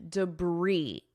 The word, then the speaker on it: debris: Notice the pronunciation, debris. I'm not pronouncing this S at all.